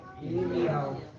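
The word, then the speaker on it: ירמיהו: Como é que é a pronúncia do nome Jeremias no hebraico? Irmial. Hã?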